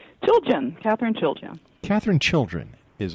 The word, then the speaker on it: Chiljan: Chiljan. Chiljan. Chiljan. Yeah. All right. Chiljan. Chiljan, right. Chili in January. All right.